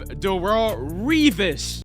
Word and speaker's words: Darelle Revis: And then we have Darelle Revis. Finally said it right, okay? No Revis, but Darelle Revis, the absolute best cornerback I've ever seen play football, guys.